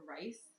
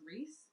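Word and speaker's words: Rhys: r h y s I just thought it was rich but apparently it's Reese so anyways we need Bridget and Reese I this is the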